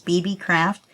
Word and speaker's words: BeeBeeCraft: it's spelled b-e-e-b-e-e-c-r-a-f-t just like it sounds BB craft and um all the